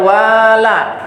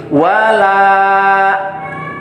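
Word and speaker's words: وَلَا: Nah, bacanya jangan wala, tapi wala.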